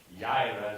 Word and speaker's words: Jireh: Jehovah Jireh, Jireh is the way to say it, which means the Lord who provides.